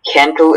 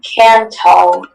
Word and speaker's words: cantle: Cantle is the only pronunciation. This word comes from Middle English. Cancel. Is there any alternate pronunciations? Yes. Or no, there aren't. Just cantle. Okay, cantal. No, cantle.